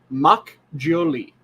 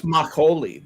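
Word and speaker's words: 막걸리: what is it called mach gioli it's a machine you know it's makoli that's what you're thinking yeah that's how you pronounce that okay that's all the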